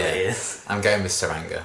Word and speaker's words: Tsuranga: I'm going with Tsuranga. I think it's a silent T.